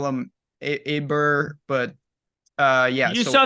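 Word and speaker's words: Åberg: a big you know oh aberg and they're just like oh it's like O'Hara and it's like wait what what are we doing here they they changed the pronunciation of my man's name from Sweden very confusing I'm still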